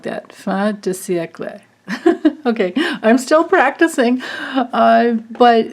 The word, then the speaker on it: fin de siècle: And she says to pronounce it fin de siècle, something like that, fin de siècle.